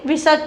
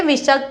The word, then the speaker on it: विसर्ग: इस ध्वनि का उच्चारण हा के समान होता है, उसे विसर्ग कहा जाता है, ठीक है।